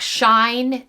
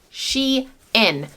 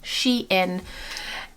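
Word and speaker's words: Shein: i found these shorts this is the brand she in and just the little fyi brand is called she in not sheen not shine it's sheen she in there's the label i actually worked with this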